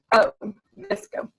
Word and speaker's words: VSCO: One called Visco, which she uses the most and seems to be really, really good for getting colors just right. It's spelled VSCO, Visco.